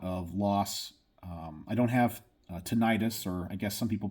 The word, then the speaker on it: tinnitus: I don't have tinnitus, or I guess some people pronounce it tinnitus.